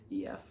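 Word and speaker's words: Aoife: name it's like f it's a-o-i-f-e but it's irish so it's like ef i believe is how you would pronounce it anyway they have a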